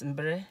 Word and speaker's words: mbre: So, mbre, it was easy. It wasn't. Mbre is, like she said, the overarching term. Am I saying that right? Yes, mbre.